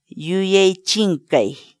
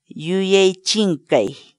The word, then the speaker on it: yuyay chinkay: series videos where we teach you how to pronounce certain words in Quechua. So our word of the day for today is Yuechinkei. Yuechinkei. Yuechinkei.